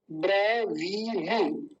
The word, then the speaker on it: ब्रवीमि: पहले बकार है, फिर वकार है, ब व, दोनों में अंतर होना चाहिए। ब्रवी, और बड़ी की मात्रा है तो लंबा खींचेंगे, ब्रवी। इसको भी जल्दी बोल देंगे, छोटी की मात्रा है, ब्रवीमि, ऐसे।